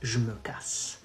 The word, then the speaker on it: je me casse: You say, je me casse. Je me casse. Then you combine both. It becomes, so je me becomes j'me.